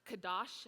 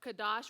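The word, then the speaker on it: קדוש: In the Hebrew, holiness is pronounced kadosh, and I think it's somewhat close to Hebrew, kadosh, which means sacred, consecrated, dedicated, or completely set apart.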